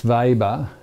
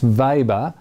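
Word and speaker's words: Weber: in 1883 um max vber U webr sort of like the barbecue H without the extra B and pronounced with a V Max vber um uh who died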